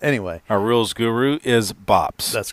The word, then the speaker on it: Bops: That would be Bops, B-O-P-S, yeah. Bops. My granddaughter couldn't pronounce Papa when she was... little, which was what my dad was, and it was Bops, and it turned into Bops.